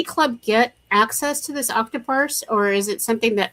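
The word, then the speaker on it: Octoparse: We have a new program that's been purchased called Octopus. It's spelled like octopus only instead of us s at the end it has a r e.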